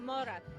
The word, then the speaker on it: mora: immigrants brought with them is a game called mora did i say it right you got it